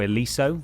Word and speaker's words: Santo Ileso: It starts, basically, it's in Santo Ileso, or Ileso, I believe is how you pronounce it.